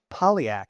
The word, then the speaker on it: Polyak: Uh Pam Piaak, how are you today, Pam?